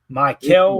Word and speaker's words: Mykel: Say it for me, Ameilia. Michael. Michael. Basically Michael. Basically Michael Williams. Just say it like you've been drinking, right?